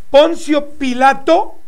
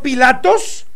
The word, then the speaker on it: Poncio Pilato: Judea, quien condenó a Jesús el Cristo, es Poncio Pilato? Repito, Pilato, y no Pilatos. Algunos argumentan que la pronunciación Pilatos proviene de su origen latín, Pilatus.